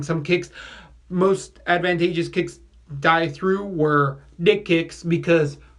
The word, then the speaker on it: Dy: see ha reverse rolando d or die we went by die it's pronounced d he's Filipino he's supposedly